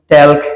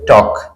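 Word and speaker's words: talk: বলে থাকেন কেউ বলেন টেলক কেউ বলেন টলক আসলে এখানেও এল এর উচ্চারণ হবে না এটা হবে টক এটা হবে টক এরপর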